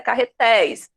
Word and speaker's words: carretéis: É carretéis. Como o som é de ei, o som aberto, eu vou acentuar.